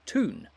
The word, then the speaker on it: Toon: The fans, meanwhile, are affectionately known as the Toon Army, taking their name from the word town, pronounced in a Geordie accent as Toon, and simply used to refer to the city of Newcastle.